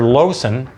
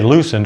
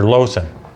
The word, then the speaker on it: Loosen: it'll be more plain this is dr lowson uh spelled with two l's most people say loosen dr loosen but it's dr lowson okay so that one